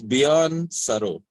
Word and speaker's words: Bjorn Surrao: Bjorn Surrao. Firstly, am I pronouncing it correctly? Hashtag asking for a friend. Almost there. That's cool. So it's Bjorn Surrao. Surrao is a part Portuguese kind of name, very similar to yours.